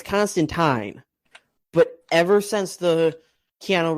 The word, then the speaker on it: Constantine: me it turns out his name isn't actually pronounce Constantine and it's constant time but ever since the Keanu Reeves movie people